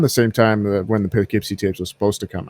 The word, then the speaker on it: Poughkeepsie: It's spelled very weirdly. It's like Pough. Yeah. Yeah, it's Poughkeepsie. Yeah.